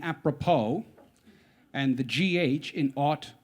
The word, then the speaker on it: apropos: Some of my favorites include the P in pneumonia, the S in apropos, and the GH in ought, bow, and dough.